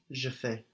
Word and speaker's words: fais: Je fais. That's spelled F-A-I-S. Je fais. And of course we have the AI giving us an E sound like in maison.